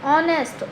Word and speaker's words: honest: तो यहाँ पर बेटा ये स्टार्ट तो एच से होते हैं, बट लेकिन इन वर्ड्स में जो है एच जो है वो साइलेंट है, ठीक है। तो ये इनकी जो आवाज़ है जब हम इनको बोलते हैं तो ऑनर यानी कि ओ की आवाज़ आती है, ऑनेस्ट ओ की साउंड, ठीक है।